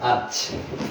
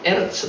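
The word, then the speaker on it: אֶרֶץ: 여기 발음으로 아르츠. 에르츠 상관없습니다.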